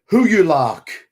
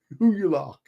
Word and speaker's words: Hygelac: King Huyulac, because it's Hygelac. Huyulac.